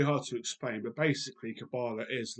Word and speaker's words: Qabalah: and answer the question what is cabala or cabala as it is pronounced by the Hebrews now it's not an